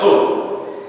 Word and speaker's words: صبح: یہ رہی کہ صبح، یہ جو اصل اس کی پروننسیشن ہوتی ہے، تلفظ ہوتا ہے صبح نہیں ہوتا یا صبح نہیں ہوتا، نہ الف ہے نہ واو ہے، صبح۔ یہ رہا کہ صبح